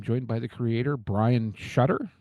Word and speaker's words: Shutter: And this week I'm joined by the creator, Brian Shudder. Am I pronouncing your last name correctly? That is correct. Yes.